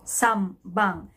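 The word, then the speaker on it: 三番: right so knee bang so you will notice that in the way i pronounce it it sounds like letter m right so some bang it's because n is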